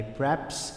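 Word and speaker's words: perhaps: English में पर HEPS जिसकी अदायगी मैंने आपको बताई कि पेप्स या पर हैप्स जिसमें आर साइलेंट कर दिया जाएगा ऐसे कि जाती है इसकी अदायगी तो आप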